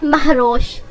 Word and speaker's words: مہروش: اور ایک اعلیٰ مقام رکھنے والی۔ نام ہے مہروش۔ مہروش کی سپیلنگ ہے MAHROSH اور اس کے معنی ہے